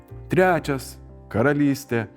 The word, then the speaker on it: karalỹstė: On the third one, for instance, karalỹstė “a kingdom”.